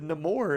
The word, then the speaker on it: Namor: He said Namor, and I was like, Namor?